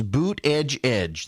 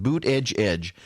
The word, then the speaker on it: Buttigieg: And then, the Buttigieg campaign came out and kept telling people, it is boot edge edge. That's how you pronounce it, boot edge edge.